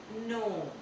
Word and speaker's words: know: आपको के को साइलेंट कर देना है और आपको प्रोनाउंसिएशन जो है वो नेक्स्ट लेटर से करना है। Example KNOW नो, KNOW नो, KNOCK knock, KNOCK knock, KNOWLEDGE knowledge, knowledge, knowledge नहीं, knowledge।